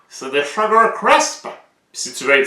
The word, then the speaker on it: Sugar Crisp: Exemple, la petite pancarte là-bas, là, des Sugar Crisp. Il y en a qui disent des Sugar Crips. Comme si le P était avant le S. Non! C'est des Sugar Crisp.